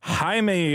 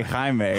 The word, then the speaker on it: Jaime: the synopsis an alien Scarab chooses college graduate Jaime Reyes see I didn't even know how to pronounce his name until after I watched this movie I'm gonna take a wind-up to say Jaime Jaime Reyes to be his symbiotic host bestowing